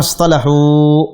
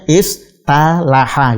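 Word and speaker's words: اصطلحوا: Ingin mengikuti pola ifta'ala, dan seharusnya dibacanya istalaha gitu ya. Istalaha. Kan tapi karena shad ketemu dengan tak sulit membacanya, maka dibadal, tak digantikan dengan to.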